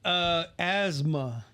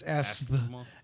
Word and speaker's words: asthma: Anyway, another word, asthma. Oh yeah. If you say it like it's spelled, is asthma.